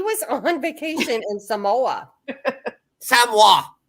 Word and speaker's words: Samoa: Samoa. Say it correctly. Samoa.